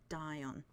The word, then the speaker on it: Dion: Um, it's a it's it's it's a it's it is um dion. Yeah. D I O N, which I think is two syllables.